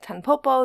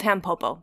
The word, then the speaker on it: Tampopo: curiosity for you so if you hear someone pronouncing it tppo they might be reading the Katakana and not just be familiar with the uh total fact that this is called tampopo that is the correct way to say it and now and now